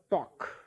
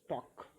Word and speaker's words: talk: So look at the word talk. Here L is silent. Silent means its sound is not heard when you read it. You don't say talk. You read or pronounce it as talk.